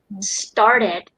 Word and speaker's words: started: So even the word started, after the letter R, the T becomes like potato, like duh. There's a slight duh sound as well. Started. Okay. Ours is silent, so it's like started. We replace it with making it longer.